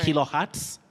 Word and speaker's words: kilohertz: Schizophrenia, we have a Z, Kilohertz. but it takes the sounding ts. So All right. kilohertz, not Kilo. kilohertz.